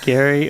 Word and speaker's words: Gerry: no sense it's over Gary yeah it's like a mixture between Gary and Jerry yeah yeah I I